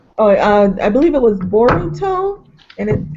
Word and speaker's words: Boruto: And the pronunciation of his son, they call him Bolt in one, but they call him Bolt.